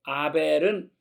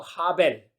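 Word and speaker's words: הבל: 그 아담의 아들 아벨 아벨은 사실은 이제 히 소리가 좀나요 그냥 아가 아니고 하벨 이렇게 나는데 히 소리가 워낙 약하게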